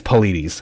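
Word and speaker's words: Paulides: them that's pretty cool um yeah so it's politis that's how you say his name it's spelled like paul ides so it's politics i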